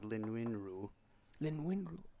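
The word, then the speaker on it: Lin Yun-Ju: So J's in most parts of the world are different than in Europe, but in Taiwan, they sound more like R's. So it's like Lin Win Ru.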